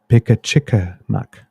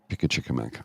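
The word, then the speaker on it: Pimicikamak: Oh, I'm getting a pronunciation check here. Pickachickamack. Pickachickamack.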